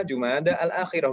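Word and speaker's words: جمادى الآخرة: Jumada al-ula, Jumada al-akhirah, bukan Jumadi.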